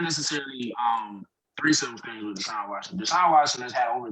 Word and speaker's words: Deshaun Watson: How do you pronounce it? Is it Deshaun Watson? Deshaun Watson, yeah.